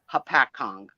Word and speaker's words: Hopatcong: We do have a Lake Hopatcong that is spelled Hopatong, Hopatong, but it's pronounced Hopatcon.